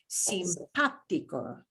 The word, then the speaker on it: simpático: mark, by the way, an accent mark never changes the sound that a vowel makes. It just tells you which syllable to give more stress. That's all that's the only, well, that's the main job of an accent mark. That's all it is. So it doesn't change the way the ah sounds in simpático. It just tells you punch that syllable in the middle harder than the other two.